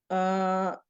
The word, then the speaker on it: Poirot: Poirot.